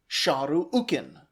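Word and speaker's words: Šarru-ukīn: And every other time we hear that his name should be pronounced shahu ukin.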